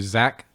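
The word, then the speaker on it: Xak: you must return to zach saroth which is on the east of the map zach for short there it's spelled x-a-k gotta return to zac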